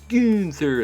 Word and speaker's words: Gunther: I always get yelled at for saying it wrong, but Gunther. I'm just going to say Gunther. It's Gunther. That's how they pronounce it.